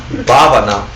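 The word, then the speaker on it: भावना: seed in your mind of Tibetan or Sanskrit pronunciation. Say Gompa. Gompa. And the Sanskrit for that is Bhavana. Bhavana?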